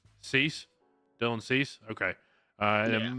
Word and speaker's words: Cease: I can't pronounce it. Is it Casey? Is that how you say it? Dylan, what's it? How do you say his last name? Cease?